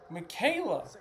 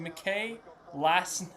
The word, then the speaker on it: Michaela: car is already Michaela. No way. That's so cool. Michaela, that's your name. I kept on saying May last.